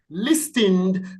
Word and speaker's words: listen: gesture gesture G gesture listen listened the te is silent preferably preferably preferably preferably